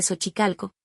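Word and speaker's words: Xochicalco: Contenía la letra X con tres pronunciaciones distintas y muy específicas del español mexicano. El sonido es H de Sochicalco, el sonido S al inicio de Choloit Quintle y el sonido de la J en Jalapa.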